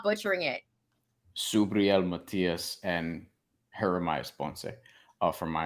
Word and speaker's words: Matías: this one it's gonna be a banger subril Matthias and Jeremiah's Ponce this one Matthias a minus